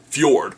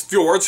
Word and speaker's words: fjord: If you saw the movie, you could not have missed their very liberal use of the word fjord. Probably because fjord is hilarious to say and it's spelled fj o r d.